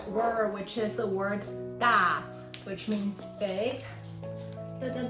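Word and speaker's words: 大: So just FYI, this one pronounced da in Chinese, it means big.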